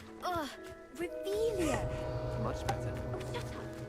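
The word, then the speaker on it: Revelio: Revelius. You're saying it wrong. Ugh, Revelia.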